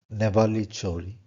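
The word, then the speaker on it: Nevalı Çori: and from a site named Nevali Chori. That's the way they pronounce it, apparently.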